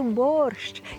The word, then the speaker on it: борщ: а я скажу ні правильно вимовляти борщ і це справді так Бо так ми говоримо і так ми чуємо тобто Важливо щоб ці два звуки прозвучали Чому Тому що це